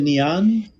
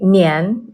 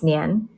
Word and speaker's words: Nian: So the neon, and I'm pronouncing it correctly, the neon. It's actually Nian. If you were to say it in Chinese, it's Nian.